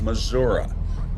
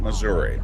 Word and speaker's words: Missouri: And I said, well, in Missouri, they're very weird about how you say it. Not everyone, but the old timers. It's Missouri. It is not Missouri, but you can get away with it.